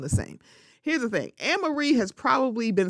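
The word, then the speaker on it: Annemarie: I think she said it's a Dutch name, and then she said it's pronounced Anna Marie, and I hope I'm getting this correct.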